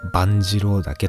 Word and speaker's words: 万二郎岳: 使えローこれで万次郎じゃなくてんぱ万二郎岳と読む山なんですけれど